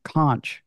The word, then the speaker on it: conch: I Google all the stuff that we have questions on the show, like how to pronounce conch shell, which you're correct, but there is an English pronunciation, conch.